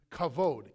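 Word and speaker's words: כבוד: glory in Hebrew is the word kavod ka VOD you pronounce it like almost like a beak abode in Hebrew and the word in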